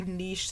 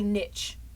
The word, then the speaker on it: niche: I also hate how a lot of Americans say niche. It's not niche. It's niche. It's niche. Everybody else says niche.